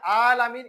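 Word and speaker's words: العالمين: পরে আলহামদুলিল্লাহি রব্বিল আলামিন কিন্তু এখানে আলামিন এনটা টানতে হবে কারণ এটা কি আছে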